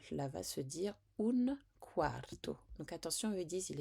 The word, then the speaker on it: quarto: n'oublie pas de dire quarto le U se prononce en ou et puis quar donc